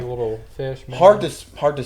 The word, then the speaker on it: Miano: And the way you responded to that, it Minnow. seemed like you get that a lot, where people don't know how to say it. too many times. Yeah. Too Minnow, way like a little fish. Minnow.